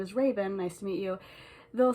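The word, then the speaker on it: Ravin: parents named me raven raven is my name not spelled like the bird spelled r-a-v-i-n not e-n but said the same can we talk about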